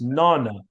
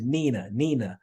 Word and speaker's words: nonna: So in Italian, it's Nonna, but one of my cousins couldn't pronounce. She always said Nina, instead of Nonna.